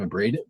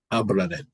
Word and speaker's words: Abraded: So that's pronounced right. It's not Abraded or anything, is it like that? No, you got it. Only when we're in another country. What do you mean? I think that would be the we have a South American tour coming up in March, and I think that would be the pronunciation down there is Oh, really? Abraded. yeah, something like that.